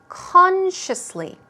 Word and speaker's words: consciously: take a look at the pronunciation first consciously stress goes right there on the first syllable let's try it two